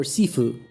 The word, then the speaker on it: shifu: It's not shifu. It's either Shifu or Sefue. Chinese is shifue and Cantonese is seifue.